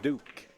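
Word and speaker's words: Duc: We got Duke, spelled D-U-C, pronounced Duke. Yeah. Like the Duke of Earl.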